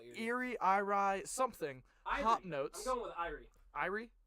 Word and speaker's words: Irie: Hey Will, how do you pronounce IRIAIE? Are you spelling things? IRIE. How do you? R-I-E? Yeah. Is there an A in front of it? No. Ire? Irie? What? Yeah, Oh, Irie.